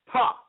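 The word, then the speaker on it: Ptah: We're going to read about Ta. Now, listen to this, right? This is Ta, spelled P-T-A-H. I don't think you pronounce the P. That's why I'm just saying Ta, right?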